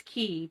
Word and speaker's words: cay: c-shaped Crescent island or k or key is it key or k I think it's key but it's spelled c-a-y I see Missy is